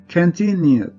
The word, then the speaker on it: continued: Y esta palabra, su sonido termina en U. No tenemos en esta parte, tampoco en esta parte. Entonces, en pasado pronunciaremos con una Z. Continued.